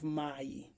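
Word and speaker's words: מים: have the Biblical Hebrew Mayim now the M the consonant M on the end is not pronounced so it will give us may the same thing we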